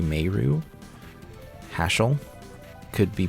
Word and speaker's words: Meru: are like um meru I'm sure some people would say Maru but it's actually meru hassle could be pronounced